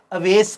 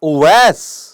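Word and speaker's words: اویس: कर रख अवेश यानी मेरे दो भाई दोनों का नाम मिस प्रोनाउंस होता है पता नहीं किस तहजीब के तहत लगता है जैसे बड़ा महजब सा है अवेश कहना दिस इज ओवैस ओवैस पेश से भी और बगैर पेश के भी मुस्ता मिल है अवैस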